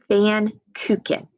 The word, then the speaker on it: Pfannkuchen: And right here, it tells you how to pronounce it. Pfannkuchen.